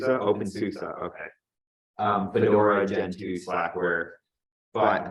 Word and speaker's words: openSUSE: Is that how you pronounce it? SUSE? OpenSUSE, okay.